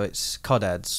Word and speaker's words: codheads: And you don't pronounce the H's though, it's codheads.